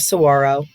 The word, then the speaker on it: saguaro: off other blue chips the national park of saguaro pronounced saguaro is home to the world's largest population